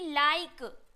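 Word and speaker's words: like: आप यहां पे देखो गाइस क्या है कि लाइक तो यहां पे लास्ट में ई उच्चारण हो रहा है लाइफ give make बाइक rice ई का उच्चारण कहीं पे भी नहीं हो रहा है तो ई जो है क्या है वो साइलेंट है एल आई के ई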